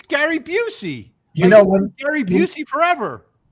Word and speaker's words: Busey: the uh you know, the stars were all pronouncing it, you know, the busy, which I'm like, what are they calling Booy? They're calling Booy. No, Booy, which is what is that? It's Gary Buucy.